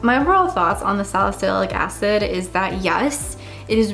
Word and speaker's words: salicylic acid: now pronounced it right it's not Susilo cassadee which I said in the first video it's salicylic acid thank you to everyone